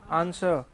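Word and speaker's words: answer: और जब question put up करेंगे तो क्या होगा, कुछ तो मिलेगा ना, क्या मिलेगा इसका, आंसर नहीं, आंसर, W कैसा है यहाँ पे थोड़ा सा वो साइलेंट वाला है, ठीक है ना।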